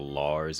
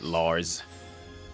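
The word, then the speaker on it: Larze: Lars. Lars Z. Although the I think the E is silent. H silent. So it's Lars.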